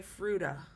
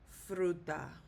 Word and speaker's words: fruta: very well might be tempted to say fruta. Okay? So, no. What we do is it ends in a vowel, and so the stress is going to be on the letter U when we pronounce it. There is not a written accent mark, but the stress is on the U. So it should be pronounced fruta.